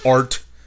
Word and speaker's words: heart: I never realized that the word heart has a silent H when you sing it, and that's true.